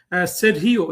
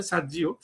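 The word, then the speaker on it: Sergio: বলা হচ্ছে যে সেরহিও, এই উচ্চারণটা অবশ্য বাংলাদেশের কোনো মানুষ করতে পারে না, এটা একটা স্প্যানিশ উচ্চারণ, আমি জানি না, ওরা আমেরিকাতে সার্জি বলতে পারে, সার্জিও, বাট এই নামটা হইলো আপনার ল্যাটিন। এই লোক নিশ্চিতভাবে ল্যাটিন পিতামাতার সন্তান, ল্যাটিন মানে স্প্যানিশ আর কি, ধরেন মেক্সিকান বা অন্য কোনো ওই কিউবান হতে পারে, ওই ভাষায় এই উচ্চারণটা হলো সেরহিও।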